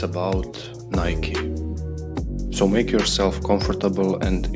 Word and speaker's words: Nike: brand sometimes they pronounce nike instead of the proper pronunciation it is correctly pronounced nike so n-y-k-a-e and the name comes from the greek goddess of victory the daughter of the